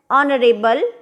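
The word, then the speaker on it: honourable: एन ऑनरेबल मैन, इसमें भी H silent है।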